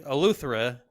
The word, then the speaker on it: Eleuthera: in the Bahamas um how you pronounce the word because I'm gonna I think it's Atlanta uh urethra um it's like it's like a cross between you take a Lutheran no it's the Eleuthera something like that um